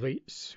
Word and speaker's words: r8s: There's one called rates, which is spelt R8S, and it's difficult even to find a copy of that, as I remember.